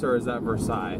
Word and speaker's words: Versailles: Chad, is uh is that Versales or is that Versailles? V E R S A I'm telling you that. I L L E S. The E S is silent. The L l is silent. It's Versailles.